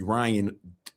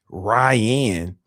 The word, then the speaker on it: Ryhan: Anyway, man, let me bring the homie Ryan. Ryan. All right, let me. All right, guys, hold up. His name is Ryan, but it's spelled RYHAN.